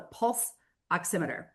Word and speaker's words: pulse oximeter: The issue is something called a pulse oximeter.